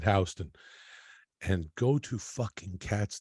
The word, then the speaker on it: Houston: It's spelled Houston, and the locals call it Houston.